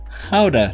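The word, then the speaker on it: Gouda: the Shelf this is go this is Howa cheese or go as people apparently say uh pronounce it in English the most famous Dutch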